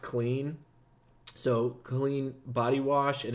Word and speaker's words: CLN: you certainly can so it's called cln it's pronounced clean so clean body wash